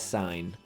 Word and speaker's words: sin: we abbreviated s-i-n so it's not going to be pronounced sin okay we're not in church we don't use sins here in math instead we pronounce that as sine and it's going to